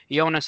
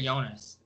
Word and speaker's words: Jonas: I say Jonas. Jonas, like Giannis, Jonas.